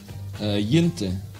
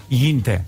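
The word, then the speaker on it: Jinte: To avoid a possible mistake, can you tell us how we should correctly pronounce your real name? Yinte. Yinte, all right.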